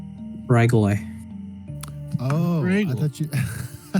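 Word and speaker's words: Ghrygaile: I believe that's spelled G H R Y G A I L E. Regal.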